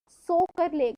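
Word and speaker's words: Tso Kar: Next we have सोकर लेक. टी is silent है.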